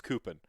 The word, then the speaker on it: coupon: just couponed me uh so i said coupen ironically for so long that it's just how i pronounce coupon now i can't stop i try not to it's coopin it similar thing happened